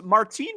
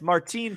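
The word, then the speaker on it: Martín: So I'm glad you mentioned that because Martine Perez, the left-hander. Oh, I called him Martin. I'm sorry. Yeah, it's Martine Perez.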